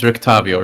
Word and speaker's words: Rictavio: Mela, I say his name's Rictavio, right?